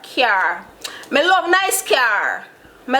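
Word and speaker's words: cyar: Car in Patwa. C-Y-A-R. Car.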